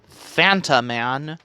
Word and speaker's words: Phantom Man: phantom man you know as in fanta and then man and you pronounce it as fanta man yeah because you know